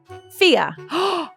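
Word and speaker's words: Fiadh: Her name is Fia. I love Fia, but it's F I A D H.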